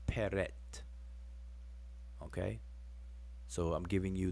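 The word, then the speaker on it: pr.t: translate it as prt the egyptiological spelling and pronunciation is peret okay so i'm giving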